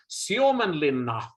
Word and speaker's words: Suomenlinna: Does the tour visit Suomenlinna? I'm not sure if I'm pronouncing that right. Or do group members go there independently? Not a bad pronunciation, Nelson. Thank you. Respect. Suomenlinna, if we should be correct, is also in